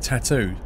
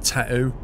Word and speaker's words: tattoo: They don't pronounce it tattoo. They pronounce it tattoo. Tattoo. Like, there's no T's in the middle.